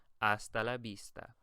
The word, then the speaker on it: hasta la vista: And then lastly, pronounce the V like a B. And the I is pronounced like a E in feet. So it's hasta la vista.